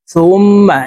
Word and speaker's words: ثم: তো এখানে দেখুন, এই যে হরকতের বামে মিমের উপরে তাসদীদ আছে, তো এই সা হরফ তাসদীদ ওয়ালা মিমের সাথে নাকের বাসি থেকে গুন্নাহ করে পড়ব, এভাবে পড়তে হবে।